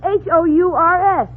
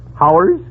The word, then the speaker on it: Hours: Now, how do you pronounce Hours? H-O-U-R-S? Oh, Howers? You pronounce it hours.